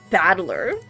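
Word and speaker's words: 戦人: Janren is made up of the characters for fight and person, and it's pronounced Battler.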